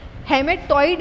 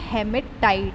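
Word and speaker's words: hematite: हेमेटॉइड नहीं है, ये हेमेटाइट है, ये इसकी राइट स्पेलिंग है, हेमेटाइट।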